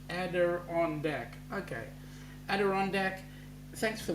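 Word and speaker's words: Adirondack: from Montreal is called the Adon ader deck pronounced ader on De okay ader de thanks for the pronunciation mate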